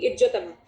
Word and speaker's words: इज्जतमा: Line dot dot line, इसका name है इज्जतमा, it's pronounced as ज ओनली, इज्जतमा।